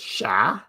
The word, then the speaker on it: chat: Don't pronounce the T. So, it's just sha.